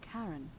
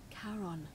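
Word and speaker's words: Charon: it's just as you described it only your pronunciation is a little off the name you heard wasn't karen it was c c-h-a-r-o-n as in caron the ferryman of the dead karon who in exchange for the right coin helps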